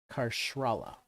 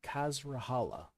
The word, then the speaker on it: Kazala: the Aran Hill Fort krala I pronounced that wrong kazala rhymes with Valhalla hasala and through might